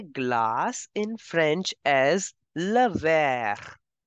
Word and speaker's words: verre: And you say glass in French as le verre. The way you pronounce green in French or towards, the same pronunciation goes for glass as well.